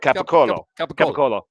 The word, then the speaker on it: capicola: cola capicola you know in italy it's an oat at the end so it's capicola that's right it's capicola you know how it's pronounced in the united states in our area gabagool um mozzarella so